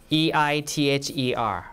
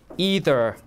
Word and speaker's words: either: example of the word E-I-T-H-E-R, right? It could be pronounced two ways, either or either, right? So these are two variants of the same thing, okay?